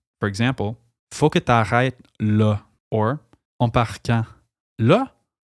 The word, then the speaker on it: là: Literally meaning there, la in Quebec is most often pronounced like le, and is an incredibly versatile word. It can be used to say right now. For example, faut que t'arrêtes là, or on part quand?